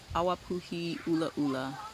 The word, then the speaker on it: Awapuhi Ula Ula: In Hawaiian, it's called Awapuhi Ula Ula. Awapuhi meaning ginger, and Ula Ula is how you say red in Hawaiian.